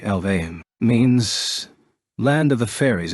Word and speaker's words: Alfheim: the Cover alfheim online Alf I'm online what does it mean it's actually pronounced more like alve means land of the